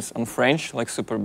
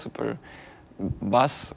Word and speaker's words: Super Besse: Auf Russisch nennen uns die Leute »Superdämonen«, weil sie nur schwer verstehen, dass der Name Super Besse französisch ausgesprochen wird. Deswegen nennen uns alle Super Besses, Super Bass oder wie auch immer. Ja, aber wir sind Super Besse.